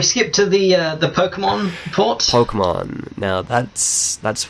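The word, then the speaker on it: Pokémon: like no it's pokemon it's not pokemon it's pokemon that's how we say it in the west say it properly it bugged me so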